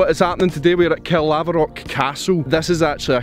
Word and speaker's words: Caerlaverock: Caerlaverock. Caerlaverock. Caerlaverock Castle. You know I'm bad at pronouncing names.